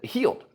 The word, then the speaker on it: Heald: last name is it held healed heal uh who knows John said healed as if you were injured and you are now healed so there you go